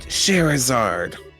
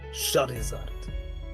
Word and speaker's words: Charizard: Dad, Sherazard, It's pronounced Charizard.